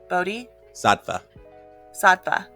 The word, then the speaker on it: Bodhisattva: Bodhi? Sattva.